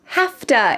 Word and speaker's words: have to: The words have to become hafta in American English.